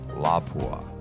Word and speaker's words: Lapua: a French company and the LA P UA is actually pronounced la Bois but no matter which